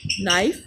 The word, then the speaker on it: knife: Knife, knock, knuckle. If K is followed by N at the beginning of a word, then K is not said.